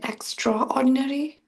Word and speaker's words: extraordinary: Extraordinary? yeah, it's the main thing is straw, the straw part.